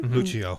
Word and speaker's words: Lucio: Lucio Fulci. That's how you say his name. Lucio.